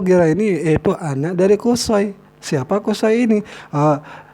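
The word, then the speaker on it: قصي: ini itu anak dari kosoy siapa kosoy ini cara baca kosai ini dengan dhomah dan patah shot kalau malah dan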